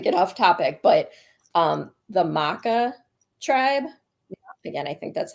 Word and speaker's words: Makah: Now, one thing I did find really interesting, not to get off topic, but the Maka tribe, again, I think that's how you say it. They're like way up, Makah.